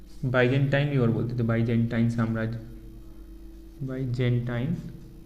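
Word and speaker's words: Byzantine: की इसी को लिखो पूर्वी रोमन साम्राज्य को बाइजेंटाइन और बोलते बाइजेंटाइन साम्राज्य बाइजेंटाइन बाइजेंटाइन साम्राज्य भी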